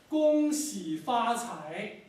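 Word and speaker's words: 恭喜发财: So listen very carefully to your pronunciation. Mr. Deng. 恭喜发财。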